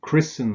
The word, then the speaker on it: christen: Similarly with words like christen and listen, where you don't pronounce the T.